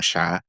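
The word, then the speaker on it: siya: My pronouns are he sha and a lot of the times people always wonder what is the sha? So it's spelled s i y a. Uh it's actually a Filipino genderless pronoun.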